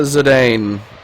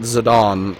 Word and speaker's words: Zidane: I've always pronounced it uh Zedane, but you are right. Kua pronounces it Zidane in Didia.